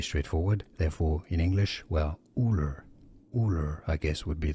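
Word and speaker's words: Ullr: Ulur. Ulur. Ulur. It's pretty straightforward. Therefore, in English, well, Ulur.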